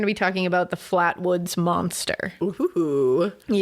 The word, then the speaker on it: Flatwoods: be talking about the Flatwoods Monster. Yes. So, the or exc Yeah, the Flatwoods. Sorry, I thought I didn't know if it was Flatwood or Flatwoods. It's Flatwoods.